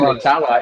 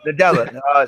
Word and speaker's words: Nadella: If he can talk to Nutella, if he can convince Nutella, like, hey, man, I said Nutella. I forget. How do you pronounce his name? Sati. Okay. Nadella. Satya Nadella. That's what it's Nadella.